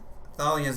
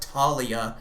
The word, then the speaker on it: Thalia: They re they pronounce Tal Thalia's name wrong. It's Thalia, not Talia like they did in the in the freaking movie.